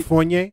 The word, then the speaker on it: Fournier: It's like beignet, but Fournier.